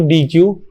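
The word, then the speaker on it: deque: हम इस चीज को DQ या फिर इसको हम प्रोनाउंस करते हैं डेक से, ठीक है।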